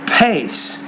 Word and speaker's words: pace: word the first letter make sure you pronounce it with more aspiration or with more air and that'll make it